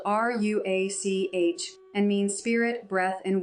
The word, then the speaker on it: ruach: Through that fractured audio, I learned the name of my guide, pronounced Ruhawk. In Hebrew, it would be spelled R U A C H and means spirit, breath, and wind.